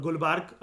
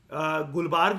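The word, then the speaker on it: गुलबर्गा: मतलब टू be precise गुलबर्ग जो है वो वैसे आंध्र प्रदेश के अंदर है। ठीक है, क्रॉस चेक कर लेते हैं, कोई बात नहीं। वो ए साइलेंट होता है।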